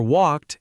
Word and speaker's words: walked: The ed ending can sound like T or D. For walked, it sounds like T. For played, it sounds like D.